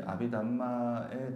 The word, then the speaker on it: 아비담마: 이제 아비담마라고 하기도 하는데, 다르마라는 말은 이제 산스크리트어입니다. 다르마. 이거는 이제 산스크리트어고, 담마라고 하는 거는 빨리어입니다. 그래서 지금 우리가 지금 공부하는 이거는 빨리어로 되어 있는 그 논서를 가지고 공부를 하는 거라서 제가 이제 발음은 아비담마라고 말하는 게 더 정확합니다.